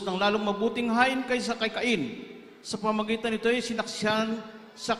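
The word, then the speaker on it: Cain: more excellent sacrifice than Kain. sa mga foreigner hindi po kain ang pronunciation nila kan may mga foreigner ba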